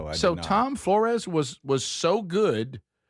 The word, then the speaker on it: Flores: Is it Flores?